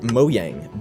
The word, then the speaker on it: Mojang: He founded Mojang Studios. Technically, in Swedish, it's pronounced Mojang, but we do not care.